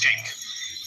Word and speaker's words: Cenk: It's spelled C-E-N-K. Right, but in Turkish it's pronounced Chink.